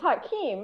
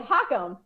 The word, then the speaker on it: Hakeem: People used to mispronounce my main name all the time because it's Hakeem, and they say Hakem.